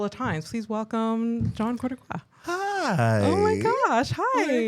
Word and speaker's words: Cortocois: It's terrible to pronounce. Nobody could say it correctly. Did I say it correct? Cortocois?